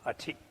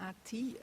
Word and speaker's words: A-khrid: It's not the ati, it's the ati. Means instruction of a. Het is de A-khrid en niet de A-ti, zoals soms ook wel wordt uitgesproken.